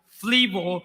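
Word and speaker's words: θλίβω: Esa palabra angosta es la palabra, escuche, en griego que se pronuncia flibo y significa opresión, aflicción y tribulación.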